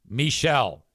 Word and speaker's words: Michel: So the script should have said M-I-C-H-E-L parentheses M-E-E dash S-H-E-L-L. Michelle.